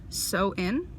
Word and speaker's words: Samhain: Like, Samhain was like so in. Like, at least that's how it sounded like from when I was listening to it, which kind of threw me for a loop a little bit, but everyone pronounces it differently.